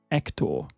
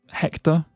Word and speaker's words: Hector: But if you wanted to be more accurate, you could slightly soften the H and elongate the last syllable and make it Hector. Hector. But Hector is also acceptable.